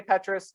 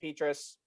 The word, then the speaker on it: Petras: spencer petrus petrus petrus you can say however you want i say petrus i've heard it be pronounced petrus again don't fight me about that i've heard pronounced both ways not wrong spencer petrus a